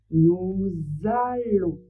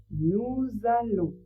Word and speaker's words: nous allons: En français, ça fait le son on et le s on ne le prononce pas. Donc on prononce nous allons. Je vous laisse répéter nous allons.